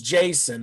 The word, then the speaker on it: Jaxson: No, I'm talking about his name's Jason. They just spelled it JAXSON, and I'm just telling the world the X is silent.